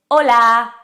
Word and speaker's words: hola: H de hola hola and this is interesting letter because the age in Spanish is completely silent. So you can see it. Hola but you can't hear it.